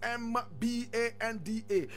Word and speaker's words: Mbande: Mbande is Mbanda.